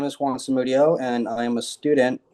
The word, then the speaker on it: Samudio: My last name is pronounced Samudio, but I'm not in my ideal setup right